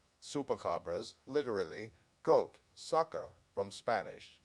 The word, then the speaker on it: chupacabras: The chupacabra, or chupacabras, Spanish pronunciation, chupacabras, literally goat, sucker, from Spanish, chupar, to suck,